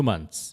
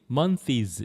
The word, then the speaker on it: months: 발음을 아직도 일부 학생들이 mones 이렇게 하는 사람이 등장했습니다. 그게 아니고 mones가 아니고 어떻게 읽는 다 같이 시작. months. months.이 ths가 츠 비슷하게 months. months.